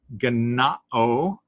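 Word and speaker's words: γεννάω: Ganao, yes, there are two N's in a row, so it tells you the syllable break is between them.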